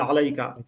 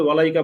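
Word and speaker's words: عليك: বলেছে আসসালাতু আসসালামু ওয়ালাইকা আসলে ওয়ালাইকা হবে না হবে আলাইকা আলাইকা না বলে ওয়ালাইকা বলেছে প্রথম ভুল দ্বিতীয় আরেকটা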